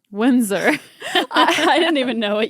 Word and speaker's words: Windsor: do you say it Windsor Windsor I don't even know what you were trying to say you're like Haley English Windstorm it's hard because there's a d but you don't pronounce the d that is hard it's